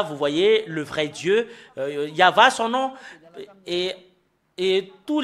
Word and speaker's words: Yahvah: sont enlevés de l'original normalement ça doit être yava que qu'on doit le prononcer bah ça a changé en y avait Jéhovah ou you bah alors que ce sont des noms qui n'ont pas été prononcés par les Juifs mais ce qui a été prononcé par les juif c'est yava et tout ceux qui